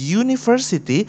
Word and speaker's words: university: Walaupun tertulis university, tapi cara menyebutnya adalah university, di mana started with konsonan y.